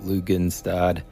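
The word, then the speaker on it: Lughnasadh: 1st it starts um I think it's pronounced lugan stad which is a Harvest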